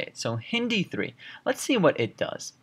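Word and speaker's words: HindIII: labeled and written out like this but it's pronounced not hind three it's actually pronounced hin D3 okay that's how you say it so Hindi 3 Let's see what it does Hindi 3 as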